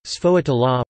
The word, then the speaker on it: sfogliatella: A sfogliatella, Italian pronunciation, sfogliatella, plural, sfogliatelle, sometimes called a lobster tail in English, is a shell-shaped filled Italian pastry native to Campania.